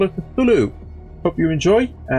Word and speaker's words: Cthulhu: Cthulhu is the pronunciation of this, I believe.